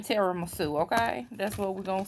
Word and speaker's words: tiramisu: pumpkin tiramisu oh okay let me pronounce it right pumpkin teary misu that's how it's pronounced but it's pumpkin tiramisu okay that's what we're